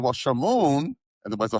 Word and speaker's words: Shmoon: And she was telling me the origins of your name, and your name to introduce you is Shmoon.